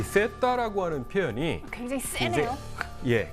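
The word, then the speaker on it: Zeta: 근데 이제 그 이제 G라고 하는 영어식 발음을 그 에스파냐어로 바꾸면은 세타가 되는 거고, 세타 우노, 세타 도스 뭐 이렇게 이제 불렀던 것입니다.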